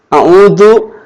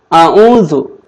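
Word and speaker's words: أعوذ: A'udzu ini kalau bacanya a'udzu pakai da, bukan pakai za, maka artinya aku kembali, aku pulang, atau aku menjenguk, gitu kan. Aku pulang kepada Tuhan, berarti paeh tamahnya maut. Jadi kalau bacanya a'udzu billah itu artinya aku pulang kepada Allah. Aku kembali kepada Allah. Tapi kalau bacanya a'udzu itu artinya aku berlindung. Jadi salah baca, salah arti. Jadi jangan bacanya jangan a'udzu tapi harus a'udzu. Za pakai za. A'udzu gitu.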